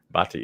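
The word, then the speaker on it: Bhatia: Uh, and of course, I'm not going to be able to pronounce this guy's name. Uh, Ash Batia. Batia.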